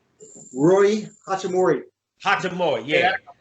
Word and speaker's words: Hachimura: Hachimura, yeah. sound like hibachi or something like that.